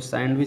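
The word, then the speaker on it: sandwich: जो सैंडविच जो है, लेकिन इसमें भी जो है डी साइलेंट है, जैसे एडजेक्टिव में डी साइलेंट उसी तरह सैंडविच में, ठीक है। तो सैंडविच पढ़ा जाता है, सैंडविच नहीं, तो ठीक है। तो डी साइलेंट इसमें हो गया।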